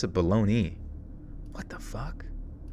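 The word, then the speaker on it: Bologna: be back tomorrow at the hotel balone baloney Hotel baloney bolognia oh it actually is bolognia why the hell do we pronounce a baloney what the [ __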